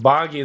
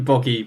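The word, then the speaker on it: Boggi: to pronounce this name I'm just going to say bogy and time corrected it must be bogy b o GGI bogy right clearly this interesting really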